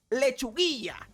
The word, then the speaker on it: Lechuguilla: And I don't know how you pronounce that bullshit in English, but in Spanish it is Lechuguilla.